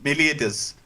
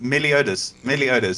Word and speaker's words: Meliodas: Yeah, you guys I was like, have you guys never watched Seven Deadly Sins? Because you were pronouncing it horribly the other night. I heard try going Meliodas. It's Meliodas. There we go.